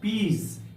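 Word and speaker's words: peas: ठीक उसी तरह से पी ई ए एस पीज यहां पर एस का पहले एस के पहले यहां पर वावेल है इसलिए उसका उच्चारण होगा पीस जड के समान होगा पीस का अर्थ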